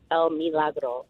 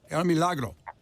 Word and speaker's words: El Milagro: of people miss that the I is pronounced like a double E. So it's not El Milagro, it's El Milagro. El Milagro.